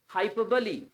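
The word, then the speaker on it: hyperbole: language के बंदे हैं हाइपर बॉल पढ़ा होगा उन्होंने एक पोएटिक डिवाइस होती है इट्स हाइपर बली हाइपर बली ली बली नॉट बॉल हाइपो बली okay jewellery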